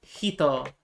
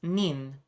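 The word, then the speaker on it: 人: Uh and then hito the kanji for person uh that can also be pronounced nin. So I believe this is sanin for three people.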